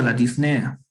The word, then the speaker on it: disnea: ya es de irak lleva acento en la el pero no lleva tilde pero lleva el acento en la disnea no es en la